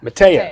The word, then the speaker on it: Mataya: He is the Memorial head coach, and Mataya. Did I say it right? Mataya.